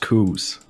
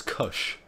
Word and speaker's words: Koos: How is Koos pronounced? It's pronounced Koos. There you go. Yeah, because everyone's told me it was Kush. And I was like, I'm not sure it is. That's right. Yeah. Like, even though my English is terrible, I'm pretty sure it's not like pronounced like that.